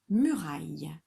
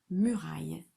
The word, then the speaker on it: muraille: Une muraille. Une muraille. C'est masculin ou féminin? C'est féminin. Une, c'est féminin, donc je cache le bleu. Une, espace, muraille. Muraille. Bien sûr, il y a un E muet, hein, puisqu'à la